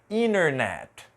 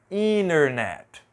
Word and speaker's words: internet: desse jeito mas aqui Principalmente nos Estados Unidos é muito comum a gente não pronunciar a letra T depois da letra e n Então vou riscar aqui e eu vou te mostrar como vai ficar a pronúncia então aqui vai ser internet internet a seguinte vai ser inil inil e por último 20 20 você já ouviu